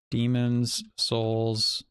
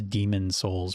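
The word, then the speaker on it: Demon's Souls: Demons, Souls. Which everyone says Demon Souls, but it's Demons Souls.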